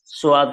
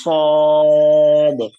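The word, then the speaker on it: صاد: সোয়াদ কোনো উচ্চারণ নাই, হুবহু যে উচ্চারণটা আরবিতে হয় সেটাকে বাংলা একটু বাংলা বা ইংলিশ মিক্স করে লেখার চেষ্টা করেছে। সোয়াদ হবে না, এটা এটা হবে সদ, সদ, সা সি এরকম পাতলা না হয়ে সদ হরফটা হচ্ছে মোটা হরফ,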